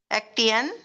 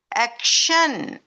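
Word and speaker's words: action: எப்படி வாசிப்பாங்க சரித்தானே எப்படி வாசிச்ச நேட்டியன் ஆக்டியன் பேட்டியன்ட் no this is நேஷன் ஆக்ஷன் பேஷன்ட் சோடிஐடிஐ தான் இருந்தாலும் சில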